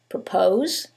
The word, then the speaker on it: propose: However, in the first one, it's the second syllable that's stressed, and in the second one, it's the first syllable, and that changes the pronunciation completely. The first word is propose, and the second word is purpose.